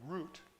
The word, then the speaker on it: Ruth: So Ruth, for instance, in Hebrew would be root, like the word root, like the root of a tree.